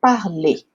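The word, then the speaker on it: parlent: E aí a pronúncia fica il parle, ok?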